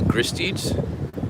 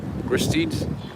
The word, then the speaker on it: Gristedes: I think it's Gristedes. Gristedes.